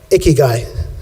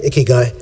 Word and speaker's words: ikigai: where I came across a key guy and it's pronounced like an icky guy a key guy but it's basically the